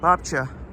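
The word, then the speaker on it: babcia: pronunciation if was Italian the c i a is a cha just like an Italian so polish is as well thank you Christine bobcha so there's Babushka and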